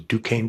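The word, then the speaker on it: Duquesne: Dukane University had a problem with no one knowing how to say their name outside of Alagany and the five contiguous counties.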